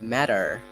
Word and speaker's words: matter: do you usually pronounce in American accent it's matter matter matter but I can see there are like two t shouldn't that be like mat oh no so when I mean British American English have some diversity so if you have t between two vowels it's actually pronounced as doll sound for example matter educated